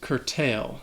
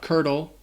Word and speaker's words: curtail: The next word is curtail. So this word has 2 syllables, and the second syllable has that long A sound, tail, like you're talking about an animal's tail. Curtail. Not curdle, curtail.